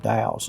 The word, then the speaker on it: dhow: But we arrive at Doha Bay here, and all these boats that are lined up right here are called dhows. It's spelled D-H-O-W.